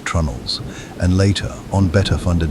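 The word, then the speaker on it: treenail: Pronounced with the magnificent stubbornness of maritime tradition as trnels and later on better funded vessels with iron spikes as well.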